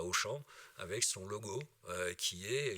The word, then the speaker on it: Auchan: Auchan, c'est comme aller au champ. Sauf que ça s'écrit Auchan, comme vous le savez, hein, et que ça ne se voit pas comme ça s'entend.